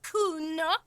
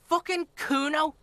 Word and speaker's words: Kuno: me to nick it kuna no i didn't it's kuno say it right say it like it's said pretty lame orenese name